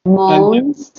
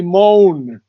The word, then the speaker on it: mourns: You've got three new words today, pronunciations, Mourns, and definition. Mourns. mourns, Say, mourns. you always say moan. Good It's not morning.